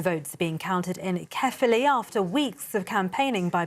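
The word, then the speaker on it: Caerphilly: which I'm now being told I need to pronounce it as carefully well there's a big bi-election taking place it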